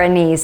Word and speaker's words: anise: star Anis or star anise let me know what you say I've always said star anise and I think that's the more British English version star Anis seems to be the more accepted pronunciation anyways I digress because